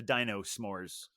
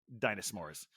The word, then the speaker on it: Dino S'mores: I called it the dino s'mores uh beer but obviously it's supposed to be pronounced I I know I think I pronounced it Dino s'mores but clearly it's supposed to be pronounce dinosaurs uh from uh from